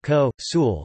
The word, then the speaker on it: consul: by the fact that in classical Latin an N before a fricative is pronounced as a nasalization of the previous vowel, meaning consul is pronounced ko tilde sul. Also, consul is pronounced ko sul, as shown in ancient